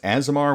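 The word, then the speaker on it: aasimar: i want to say it's pronounced asimar with like a z sound but uh but darren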